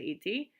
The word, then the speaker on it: идти: So idti, which we don't really pronounce the D and the T separately, we just say idti, paiti, idti, paiti.